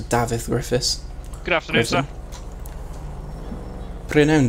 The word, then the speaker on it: Griffiths: All it is David Griffiths, but it's spelt Welsh. It's spelt in the Welsh way, so David Griffiths.